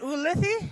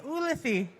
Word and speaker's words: Ulithi: Ooh, is it Ulithi? Ulithi.